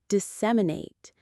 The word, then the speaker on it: disseminate: The word is disseminate. Let's break it down into its sounds. Let's say it slowly together. Disseminate. It has four parts. disseminate. The stress is on the second syllable.